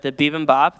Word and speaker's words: bibimbap: Well, the bibimbap that we just had, that's how you say it.